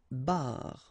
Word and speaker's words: barre: And then une barre. Okay, so you can hear that it's exactly the same way that you pronounce, but then you get r, and then e.